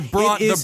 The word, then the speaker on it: Bronfman: How do you pronounce their last name? Uh they're Bronfman Bronfman Bronfman Bronfman It's literally b r o n f m a n.